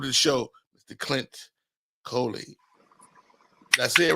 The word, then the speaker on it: Coley: You only say Cooley to me, which I'm cool with that. No. I finally, this is what I am, Clint. I finally looked at it. It's not Cooley. It's not 2 O's.